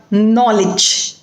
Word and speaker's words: knowledge: you can see that it is written as k n but it has only one sound two letters but one sound and that is no k is silent in this word so and it is